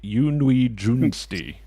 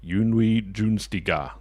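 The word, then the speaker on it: Yunwi Tsunsdi: Yunwi Sundi. Pronounced roughly Yunwi Junsti. Or Yunwi Junstiga.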